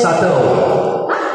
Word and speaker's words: subtle: Sable. Dua-dua salah. Oh, nampak tu. Super. Tele. Super tele. Sable. Okay. Jangan super tele lah. Class. It's pronounced as subtle.